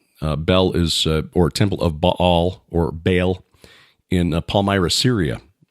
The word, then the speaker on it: Baal: And that the link between Baal, and I know that's not the proper pronunciation, but that's what most of us use, so I'll use that just for familiarity's sake. It should be Baal.